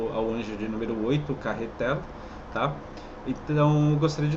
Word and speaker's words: Cahetel: Quando vocês forem pronunciar esse nome Carretel, é com esse L no final, tá? Então tudo que vocês verem assim como e Micael, né? Rafael e Carretel é com esse L no final, tá? Isso é importante. Não é para ser pronunciado carretel, né? Até porque carretel parece carretel, né? Mas não, mas não é carretel, pessoal. É carretel, tá?